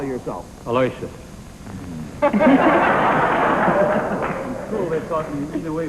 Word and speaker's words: Aloysius: you didn't call him by his right name I say that people are entitled to call themselves what they want to call themselves what do you call yourself Alicia cool they talk either way what pronounce correct that's why I call it a